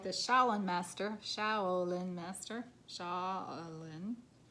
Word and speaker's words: Shaolin: got mountains stand your ground and i can't pronounce this it's shaolin master s-h-a-o-l-i-n shaolin master be graceful in movement and action